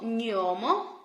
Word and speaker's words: gnomo: Then also if a noun starts with the letters G plus N, which we pronounce ny, ny, ny, ny, we put the article lo. So, lo gnomo, the gnome.